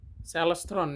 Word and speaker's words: Celestron: Bacanya gimana sih? Celestron ya, gitulah ya.